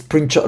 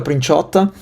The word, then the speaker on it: Princiotta: It's Princiotta Luca Princiotta.